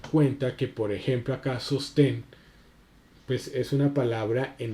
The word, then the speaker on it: sostén: que, por ejemplo, acá sostén, pues es una palabra, en este caso va a ser una palabra aguda que tiene, porque tiene acento en la última sílaba y como termina en